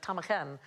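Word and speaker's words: ptarmigan: Sir Robert sibl and he wrongly assumed that it had been a Greek word of origin and so he put a p in front of it there is no need for the P to be there at all it's not Greek in any way it is simply a Scottish word that he misunderstood you know that's not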